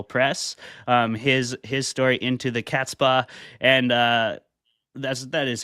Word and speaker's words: Catspaw: His story, Into the Catspaw, and that is how you say it, right? Into the Catspaw.